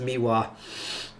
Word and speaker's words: MIWA: I know it's pronounced um I know it's pronounced miwa my sinuses have is warping it so odd